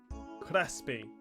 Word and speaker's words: Crespi: I googled his name as well, and I am pronouncing it right. Crespi.